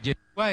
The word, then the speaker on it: Yeshua: Bueno, sí, Yeshua es la pronunciación hebrea, pero Jesús es la castellanización de Jesús en griego, que en hebreo puede ser Josué, Oseas, Isaías o Yeshua.